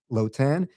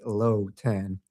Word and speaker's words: Lhotan: As Elena said, I am Lotan. Um, my surname is usually difficult to pronounce, so I always tell people I have a low tan.